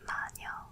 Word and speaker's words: Manyo: It's actually pronounced "Mah-nyeo" in Korean.